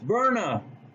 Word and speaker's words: Byrna: And we are doing the unboxing of the Barna. Pronounced Verna SL launcher.